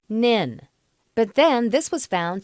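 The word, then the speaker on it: NHIN: network was known as the nhi n pronounced Ninh but then this was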